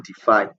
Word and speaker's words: DeFi: 3d defy 3d now decentralized finance pronoun or defy is pronounced as if i that's d5 is a